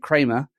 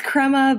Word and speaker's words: Crema: She's a PM turned new biz gal, and she's currently working at Kramer. Did I say it right that time in Kansas City? It's Crema, but at least you didn't call it Crema Labs.